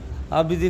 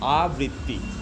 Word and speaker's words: আবৃত্তি: আবৃত্তিও করিস বহুকাল আবৃত্তি নিয়ে হ্যা আমি উচ্চারণটা কি আরেকবার বল আবৃত্তি আবৃত্তি আবৃত্তি ওকে তো পার্থ আবৃত্তি নিয়ে তোর কি